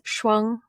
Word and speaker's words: Shuang: Well, in Chinese, it's Shuang, Shuang.